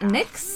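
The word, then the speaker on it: Nyx: which means Knights and it's pronounced like Nick's it's head off into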